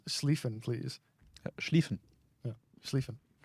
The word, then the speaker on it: Schlieffen: Schlieffen. Yeah, Schlieffen. SCH is not like a sk, but it's a sh in German. And IE is like a long E sound.